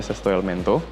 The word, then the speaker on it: Sesto Elemento: Gambarnya kayak gitu, judul logonya 6 Elemento, bacanya Sesto Elemento.